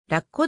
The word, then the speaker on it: ラッコ: いずれも読みはラッコであるそのラッコ発音の高低アクセントは頭部にあったが現在は平坦な石語尾につける事例が多いアイヌ語では